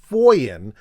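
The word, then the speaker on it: Funen: in the town of Foyen, which is spelled Funnen, and the name of this farmhouse is that of Jens Stavensgaard.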